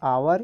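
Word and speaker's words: hour: समान यहां पर और इसको पढेंगे आवर यह होगा और यहां पर एक साइलेंट है तो यह शुरू हो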